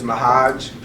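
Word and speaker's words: M'Hajj: My first name is Mahaj.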